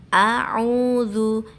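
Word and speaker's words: أعوذ: Semisal Qul a'udzu, a'udzu itu ada alif, ada ain. Jadi membacanya harus jelas. A dan ain harus dibedakan.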